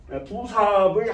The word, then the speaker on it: 부사합: 부사합이라고 부사합의 한자식 발음이래요. 그래서 원 발음은 부합이 아니라 부사합산이라는 뜻이에요.